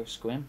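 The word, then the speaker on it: Sequim: Squim, appreciate that.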